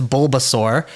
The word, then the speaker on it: Bulbasaur: Um and uh in English it's Bulbasaur. So think of a bulb like a plant bulb and then sore for like a dinosaur.